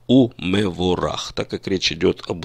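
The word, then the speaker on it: ומבורך: и у него рак в обычной речи мы бы сказали шабат шалом в него урах а по нормам высокого стиля классического иврита древнего иврита мы произносим шабат шалом и мы ворох так как речь идет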